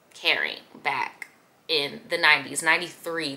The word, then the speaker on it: Kering: the picture Gucci has sold off to caring right that's how you pronounce it caring back in the 90s